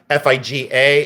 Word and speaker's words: figa: FIG A is a hand like this. FIG A. I say Figa. That's the way I pronounce it.